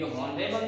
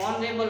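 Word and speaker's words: honourable: ये ऑनरेबल नहीं होता, ये ऑनरेबल होता है, ध्यान रखना, ऑनरेबल कभी नहीं होता मैन, ऑनरेबल मैन होता है, एच साइलेंट, ऑनरेबल मैन, तो आर्टिकल एंड।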